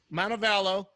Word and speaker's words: Montevallo: Montevallo.